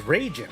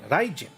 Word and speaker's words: Rin: we knew of was rayen because we only knew RI as like Ray rather than than like the Japanese pronunciation which would have been Rin right and eventually I